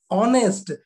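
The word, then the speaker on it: honest: अगर हम इसका प्रोनाउंसिएशन करते हैं ऑनेस्ट, ऑनेस्ट, ओ आ रहा है, न कि ह आ रहा है।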